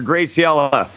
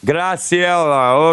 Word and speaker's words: Graciela: Am I pronouncing your name correctly? Graciela. Graciela, okay. Is Yes, that perfect. Spanish? That's Brazilian. Brazilian. Okay, so I got to say it like Graciela.